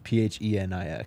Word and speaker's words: Phoenix: People are saying it's pronounced Phoenix. All right, sorry. It's spelled Phoenix, though. It's Phenix, so...